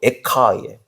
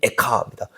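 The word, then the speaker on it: איכה: 슬프다 이렇게 되어 있는데, 그 슬프다는 말이 히브리어로 에카예요. 애가하고 비슷하잖아요. 발음이 에카입니다.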